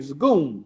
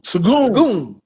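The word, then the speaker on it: Şengün: Sagoon dunked Draymond. on Draymond. Boy, That's how you pronounce his name. Sagoon. Sagoon. Like a goon.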